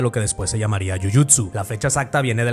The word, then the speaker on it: jiu-jitsu: ¿Por qué en Brasil se pronuncia yujitsu y no yuyutsu?